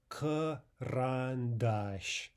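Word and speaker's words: карандаш: Here's another 3-syllable example where the stress falls on the final syllable. So there we'll get ah, and the syllable directly preceding it will also get ah, but in the first syllable we get karandash, karandash, karandash.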